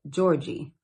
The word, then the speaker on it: Georgia: When they talked about Georgia, they would call it Georgie.